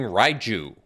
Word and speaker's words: Raiju: draft all right thundering rai zhu people have been i think some commenters said i'm not saying it correctly the j is not silent it's not like spanish or whatever sorry i did not